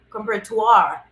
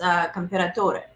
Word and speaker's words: Comperatore: He said something comperatoire, and it's comperatore, right?